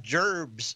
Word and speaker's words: jerbs: next week we've got jerbs numbers tomorrow morning at 8:30 and I'm a South Park fan they took our jerbs je e RB s is the way they pronounce it but jobs numbers in